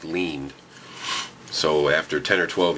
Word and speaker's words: Lind: name spelled this way I knew it was pronounced lean so after 10 or 12 years of seeing lean without seeing Lind that's